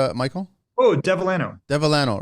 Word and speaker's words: Devellano: How do you pronounce Sorry? your last name, Michael? Oh, Devellano.